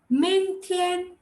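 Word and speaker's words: 明天: Now, how do you say tomorrow? Ming Tian, Ming, Ming. And adding tone marks to it. Ming Tian.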